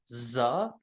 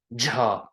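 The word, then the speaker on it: જ: people pronounce it as Za they'll say that's the the Alphabet letter most of the time in my experience when people speak they pronounce it as ja even though sometimes when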